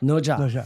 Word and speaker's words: Nezha: That's how you pronounce it. Nuzhe? Nuzhe, yes.